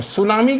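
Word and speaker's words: tsunami: कहता है कि सुनामी तो सुनामी की स्पेलिंग आपने बनाई ये अब टी और एस को मिलाकर कुछ बनता नहीं इसलिए टी को साइलेंट करके हम सुनामी बोलते हैं नॉलेज की स्पेलिंग की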